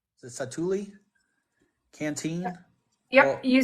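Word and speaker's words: Satu'li: it sat satul canteen is that how you pronounce that place it's s sat a t apostrophe oh apop Li satuli it satuli canteen yep you said it right I don't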